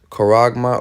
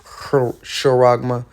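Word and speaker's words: χάραγμα: The Greek word is charagma or charagma, however you want to pronounce it.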